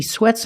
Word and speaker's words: sweats: it's he he sweats don't use a stop T when you add an S to the word he sweats a lot he sweats